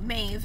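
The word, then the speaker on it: Maeve: nothing wrong with it so it's spelled m a e v e mave and I so it's almost like mauve whatever I know but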